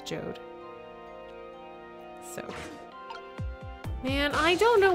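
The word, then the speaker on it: Jowd: can't flush this toilet apparently it's pronounced like J which I always said Jou because there's a Jou in the um the opening sequence of swen 2 but apparently it's jod so man I don't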